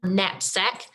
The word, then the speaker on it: knapsack: we're going to have the nuh spelled with kn knapsack we're going to have for